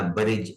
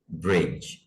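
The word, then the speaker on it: bridge: ब्रिज हमारा पुल है, इसको भी ब्रिज या ब्रिज नहीं पढ़ेंगे, बी पर जबर जेर की आवाज नहीं आनी चाहिए। ब्रिज, ब्रिज।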